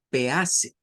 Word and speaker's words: peace: nos las han enseñado, comenzamos leyendo algo como peace. ¿Eh? Y eso está mal si es una palabra en inglés, porque queremos hacer como dos sílabas y decimos pea y después decimos se, pero nada que ver.